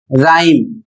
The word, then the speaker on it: rhyme: Next word है RHYME, और इसे पढ़ा जाएगा राइम, और इसकी हिंदी होती है तुकबंदी।